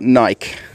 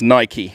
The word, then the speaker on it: Nike: being told i've got to say nike not nike so it's pronounced nike so you're gonna have to prove me wrong